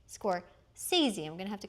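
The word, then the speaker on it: Scorsese: Oh, including a richly textured tribute to Vincent Van Go, who is played by Martin Score Sea. Now that we know how to say his name correctly, score sees.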